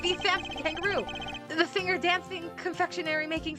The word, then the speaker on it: Tangaroo: E, it's the Samson Tangaroo, the singer, dancing, confectionery making sensation. Jeffrey. What shall we make today, kids? Aww. Yeah, it's spelled like kangaroo, like kangaroo, but it's Tang, like T-A-N instead of K-A-N.